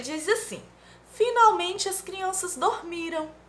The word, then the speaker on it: dormiram: Ele diz assim: finalmente as crianças dormiram. Ou a pronúncia é dormiram ou dormirão? É com a M, tia, então é dormiram.